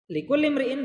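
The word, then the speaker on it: لكل امرئ: tiap-tiap Hai selanjutnya imriin kalau dibaca sambung ini bacanya likullimriin tapi kalau dipisah cara bacanya imriin yang beliin artinya seseorang Brian artinya seseorang likullimriin bagi tiap-tiap seseorang atau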